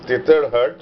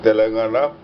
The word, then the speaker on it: Tetarhat: And this is the place Tetarhat, which has been mispronounced by Tibetans as Telangana, where Virupa ate a pigeon.